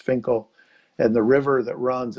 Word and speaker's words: Finchale: in a place called Finkel. It looks like Finchale or Finkale, but it's pronounced Finkel.